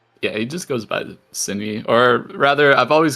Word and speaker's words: Synii: Is that pronounced right? That's a lot of hi for me. Yeah, he just goes by Synii, or rather, I've always called him Synii, and he's never corrected me.